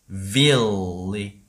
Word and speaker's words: village: Village가 되겠죠.